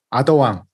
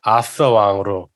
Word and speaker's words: 아서왕: 아더왕 혹은 아서왕이라고 하는데 아서왕이라고 저희 기준으로 할까죠? 아, 그래요? TH 발음이라. 아서 왕으로. TH 발음이라 가지고 이거를 한국인이 발음이 안 되는 저거잖아요. 그래서 그냥 아서왕이라고 하죠, 저희.